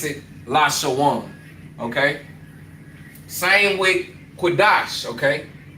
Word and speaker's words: Qadash: So being that they are conjoined you would drop that A off of sha and you would pronounce it dash. So Lashawan Qadash, okay?